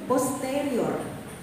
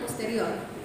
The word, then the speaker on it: posterior: Bukan anterior. Anterior. Jadi cara pengucapannya begitu ya. Tulisannya sama ya, tulisannya sama. Anterior. Tulisannya sama. Sama tulisannya, tapi kalau cara pengucapan bahasa Latin itu kita penekanan 3 suku kata dari terakhir ya. Jadi anterior, posterior, bukan posterior.